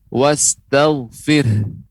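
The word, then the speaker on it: وَاسْتَغْفِرْهُ: Kemudian juga catatan berikutnya adalah wastaghfir ya, ada huruf h di ujungnya karena pada asalnya wastaghfirhu, maka ketika pengucapannya wastaghfir, ada keluar nafas lebih banyak, yaitu pengucapan h di ujungnya, wastaghfir ya, ada keluar h.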